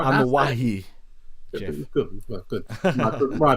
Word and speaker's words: Anoa'i: Anoa'i. Jeff. Good. My pronunciation is corrected, but my point still stands.